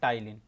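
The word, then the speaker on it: ptyalin: यहाँ पे जो P है ये साइलेंट रहता है, प्रोनाउंसिएशन होता है टाइलिन।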